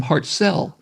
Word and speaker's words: Hartselle: was from I'm from Hartselle Alabama and he corrected my pronunciation he said Steve has pronounced Hartsell it's like I was